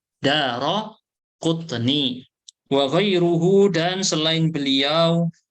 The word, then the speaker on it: Daraqutni: Bacanya yang benar apa? Roknya difathahkan. Daraqutni. Banyak yang bacanya Darukutni. Salah. Bukan Daru bacanya. Daraqutni.